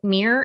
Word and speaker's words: mere: So the first one is called mirror exposure effect. It's spelled MERE, and we're going to have it in the show notes.